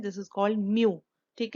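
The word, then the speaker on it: μ: Moments को हम denote करते हैं एक ग्रीक लेटर के साथ, ऐसे हम बनाते हैं और इसको हम प्रोनाउंस कैसे करते हैं, दिस इज कॉल्ड म्यू।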